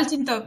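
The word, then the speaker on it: Altıntop: And Hamid, how do you pronounce it? Altintop? Yeah, Altintop.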